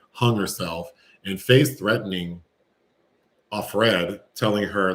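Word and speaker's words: Offred: is changed to like it's spelled like off red off of Fred a Fred off Fred and she's the one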